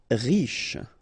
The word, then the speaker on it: riche: Riche, final E not really pronounced, so sh is the last sound, riche.